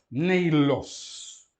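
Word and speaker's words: Νεῖλος: Ditongo ei é longo, não é? E coloca-se o acento no segundo elemento do ditongo. Neilos, palavra própria espômena, acento circunflexo na penúltima sílaba. A última é breve, mas o ditongo é longo.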